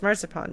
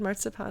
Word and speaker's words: Marzipan: than one R until I heard my mom say the word marzipan, and I was like, oh, the difference between your pronunciation and mine is the R.